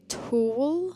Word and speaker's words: tulle: This leads me into tulle. That's how you say it.